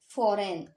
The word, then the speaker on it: foreign: तो देखिए यहाँ पे भी G साइलेंट है ना, और यहाँ G भी साइलेंट है, और यहाँ पे देखिए I भी साइलेंट है। यहाँ इनका कोई उच्चारण ही नहीं हुआ है, सिर्फ फो, रे और न का उच्चारण हुआ, बस आई और जी का कोई उच्चारण हुआ ही नहीं है।